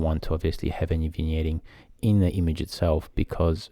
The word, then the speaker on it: vignetting: Can you pronounce it properly? Vignetting. Vignetting. So the G is not in there. So vignetting. There you go.